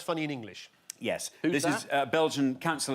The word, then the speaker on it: Ye: Oh, it's pronounced Ye, is it?